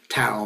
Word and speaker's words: Tao: even mysticism, Buddhist mysticism, Tao mysticism. They say, I pronounce it Tao, but it's Tao, but it is with a T in their language, okay?